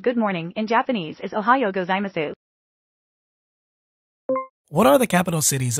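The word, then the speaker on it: おはようございます: pronunciation of good morning in Japanese the English pronunciation of good morning in Japanese is Ohio gozaimasu what are the capital cities of New Zealand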